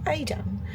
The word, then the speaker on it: Edam: It was the windmills and Edam, which is actually pronounced Adam, but for some reason I just didn't really fancy it.